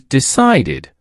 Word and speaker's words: decided: Another common one is decide. It ends with t, so the past tense is decided, pronounced deceded. Repeat after me, decided.